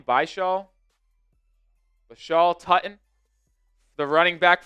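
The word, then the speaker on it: Bhayshul: Bashaw.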